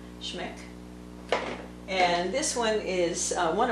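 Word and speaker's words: Schmincke: So this one here is Transparent Orange by Schmeck. I think that's how you say it, Schmeck.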